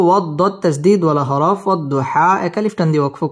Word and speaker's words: والضحى: واو ضاد زبر وض ضاد পেশ দু وض حا খারা জবর হা والضحى ওয়াও ঠোঁট গোল করে উচ্চারণ করব ওয়াদ দত তাসদীদ ওয়ালা হরফ والضحى এক আলিফ টান দিয়ে ওয়াকফ করব والضحى والضحى واو لم زبر